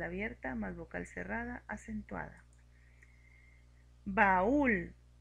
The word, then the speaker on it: baúl: Baúl. Para poder pronunciar baúl tenemos que darle más fuerza a la vocal cerrada y esto lo hacemos poniéndole la tilde.